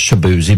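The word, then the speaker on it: Chibueze: c h i b u e z e pronounced shabzi but it's spelled differently and if I was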